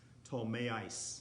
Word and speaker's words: Ptolemais: I had to look it up because that's not how I would have pronounced it. It's Ptolemais. When we had finished the voyage from Tyre, we arrived at Ptolemais, and we greeted the brothers and stayed with them for one day.